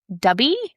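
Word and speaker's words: Dubbii: So, a paid body doubling app is dubby, I think is how you say it.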